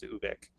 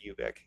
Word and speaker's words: Ubik: He said both at different times, and he says the French, the French pronunciation is Ubik and not Ubik.